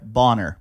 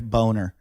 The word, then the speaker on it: Boehner: This is from Jeff Bonner, by the way. Yeah. Or Jeff Boner. Boner's his name. Hey, boner. But it's spelled Boehner.